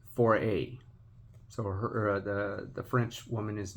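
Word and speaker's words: forêt: Nothing, and I named the French lady, I named her the French word for forest, like the trees. So I think it's pronounced Foray.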